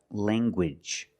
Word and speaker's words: language: Let's look at more words where you have ng in the middle and you make the hard g sound like language. Language. You have the nasal sound lang and the hard ganguage.